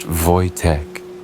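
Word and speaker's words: Wojtek: They named him Voytech, pronounced Voytech, a Slavic name meaning joyful warrior.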